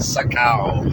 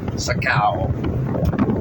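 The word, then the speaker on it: Sa Kaeo: Thailand route 359 about 50 km west of Saka which is spelled s a space k a e o Saka and that'll be about the halfway point between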